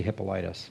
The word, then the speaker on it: Hippolytus: How do you pronounce that? I usually say Hippolytus.